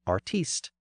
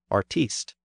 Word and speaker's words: artiste: As you can hear, the stress has shifted forward in the older version, artist. But the stress on the final syllable has been retained in the newer version, artiste.